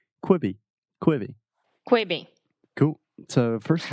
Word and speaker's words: Quibi: myself McCoy sir quit be quiet be almost kwibi quit be there we yeah good we be quite be there yeah okay so before anything else this is a great platform to practice your pronunciation kwibi kwibi kwibi cool so first of all I